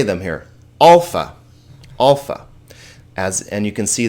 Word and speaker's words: alpha: Alpha, alpha. And you can see that this alpha has a sound like the A in car, ah. Not a, like hat, okay?